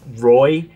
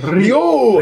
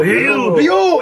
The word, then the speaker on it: Ryu: It's supposed to be like one syllable, and you're supposed to roll the R, so it's supposed to be like Ryu, Ryu.